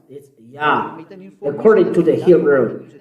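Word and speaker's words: יה: Yah. According to the Hebrew. When you see this word, it is read Yah in Hebrew.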